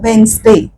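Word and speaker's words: Wednesday: उच्चार नाही करत डायरेक्टली आपण कस म्हणतो वेनसडे वेन्सडे आणि त्यामुळे ड म्हणजेडी हे अक्षर सायलेंट आहे त्याच्या आणि डिझाईन डिझाईन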